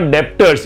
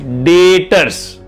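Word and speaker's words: debtors: मैंने सामान बेचा और आपसे पैसे मिलने बाकी है, उसको B silent, it इज नॉट डेप्टर्स, इट इज डेटर्स।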